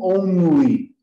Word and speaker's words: only: Mas o N, em inglês, é sempre no céu da boca. É sempre N, N. É sempre ali. E então, only, eu preciso sempre pronunciar o N da forma N. Sempre.